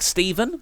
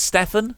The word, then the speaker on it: Stefan: It's like it looks like Stephen, but it's Stefan.